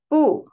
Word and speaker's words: 不: So before first tone, second tone, and third tone, we pronounce 不, fourth tone.